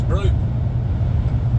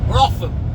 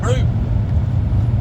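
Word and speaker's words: Brougham: looks like it's pronounced Bruff, and I don't know how it works, but the locals actually pronounce this Broome. It looks like I'll see it here. B-R-O-U-G-H-A-M. Bruff or Bruffham. Broffham.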